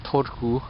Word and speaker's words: Turku: Okay, so I've arrived at Turku and had to take a little deviation and